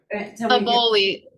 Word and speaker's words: Aboli: Aboli. It rhymes with ravioli.